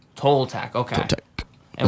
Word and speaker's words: Toltec: Tol or toe? Tol. Toltec.